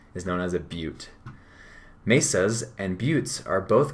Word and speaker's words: butte: you say that looks like butt t it's pronounced butte is known as a butte mesas and buttes are both common landforms in